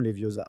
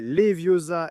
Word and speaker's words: Leviosa: C'est le moment où elle corrige Ron en classe quand ils apprennent Wingardium Leviosa. La célèbre phrase « c'est Leviosa et pas Leviosa » n'apparaît pas dans les livres.